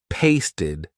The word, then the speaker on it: pasted: If a verb ends in T or D, the ed ending will be pronounced ID. Want ends in a T, wanted. Need ends in a D, needed. Pasted, painted.